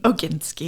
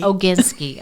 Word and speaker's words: Oginsky: the magazine to life and Anna last name oginski oginski okay those they I didn't want to pronounce it wrong oginski um is the owner